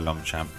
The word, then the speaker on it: Longchamp: As well, so you could get your free Longchamp clothing, and if you went to Longchamp, that's how you pronounce it.